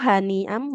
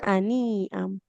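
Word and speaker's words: هَنِيئًا: Haknya dia dhammah tidak ada wawunya maka tidak panjang fakuluhu haniam bukan aniam.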